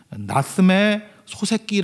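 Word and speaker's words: 夏目漱石: 5 역시도 되시기 바랍니다 나쓰메 소세키 라는 작가가 있어요 소 새끼 말 듣기 도 아니고 소 새끼 인데 발음만 그래요 예 나쓰메 초 3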